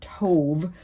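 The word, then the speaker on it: טוב: not good for man to be alone. So we see that word tov, or tob, some people pronounce it with a B, which is basically God's assessment of the creation of the world.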